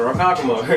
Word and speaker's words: Ronkonkoma: Even in Ronkonkoma. There was an attack. Yeah. Oh, that's how you pronounce it, Ronkonkoma.